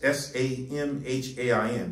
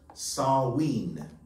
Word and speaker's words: Samhain: The Celtics would have a feast called Samhain, it's S-A-M-H-A-I-N, but it's pronounced Samhain, S-A-H-W-E-E-N, Samhain, on November 1st in honor of, quote, Lord of the Dead, end quote.